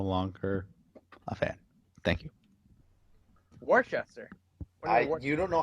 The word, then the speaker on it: Worcester: But what's Before I say anything, anybody Oh, that says this is when we figured out what Worcester's new name was Okay.